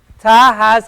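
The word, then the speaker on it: ث: as as an S it's pronounced as a th like in the word theory a theory and the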